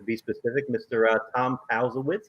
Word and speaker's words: Palzewicz: fifth district to be specific mr uh tom powell's how you doing tom thanks eric and thanks for pronouncing my name correctly that's awesome right so